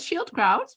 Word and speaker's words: Schildkraut: a guess guests and our guest is Shield crowd did I pronounce it right yes yes yes actually amazingly